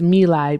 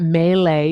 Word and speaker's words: My Lai: I actually, the pronunciation is My Lai because I wanted to make sure I was pronouncing it right. So it's not Melee, it's My Lai.